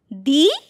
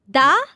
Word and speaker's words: the: দা equals C. হ্যাঁ। দি equals V. মানে হচ্ছে দা দি। সিভি ফর সি। সি for consonant. R ভি for vowel. Yes. That means কনসোনেন্টের আগে আমরা দা উচ্চারণ করব।